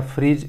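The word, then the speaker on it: Phryge: बात करें 2024 Paris Olympic का, तो इसका जो शुभंकर था, मैस्कॉट था, वह था ओलंपिक फ्रिज या फ्रीज, प्रोनाउंसिएशन फ्रीज बोलते हैं इसको।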